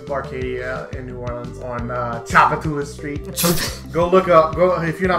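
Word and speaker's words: Tchoupitoulas: Chapatula sounds like a Final Fantasy. It's enemy. Pronounced Chapatulas.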